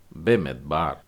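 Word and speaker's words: בְּמִדְבַּר: तो ब मी द अब शवा बीच में डला है तो आप द को छोटा करके बोलेंगे और उसके बाद में बेत है आ की मात्रा के साथ और फिर रेश तो इसको उच्चारण हो जाएगा बे मेद बार बे मेद बार ये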